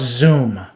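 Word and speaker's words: Xoom: youtube and check out zoom it's spelled x o o m it's a paypal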